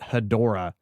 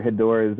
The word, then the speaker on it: Hedorah: discussing godzilla vs hetera um growing up always pronounced it hedorah because i had no idea anything and this